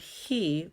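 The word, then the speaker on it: היא: ha hee hee now this is the word hee which means she because we love confusing ourselves and since it ends with the letter olive which is silent we just don't have a sound but what the letter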